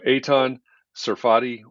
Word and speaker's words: Eitan Tsarfati: efficient and flexible design and building process so eitan serfati welcome to context and clarity live hi jeff